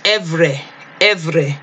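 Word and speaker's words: עברי: If you want to go into the Cepher and hear the pronunciation, we can go into, it was Evre, okay?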